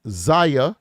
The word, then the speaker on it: Xiyya: Zia Jackson pronounced Zia, so it's good that I pronounced it correctly.